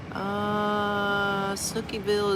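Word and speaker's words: Sihanoukville: Snookyville is normal, but it will offend locals.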